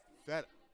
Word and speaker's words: feta: but that one is Feta. What does feta rhyme with? Better.